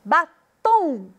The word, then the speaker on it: batom: Batom. O tom é a sílaba tônica.